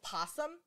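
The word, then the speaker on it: PASSM: just kind of funny it's possum it's totally phonetically p-a-s-s-m um and so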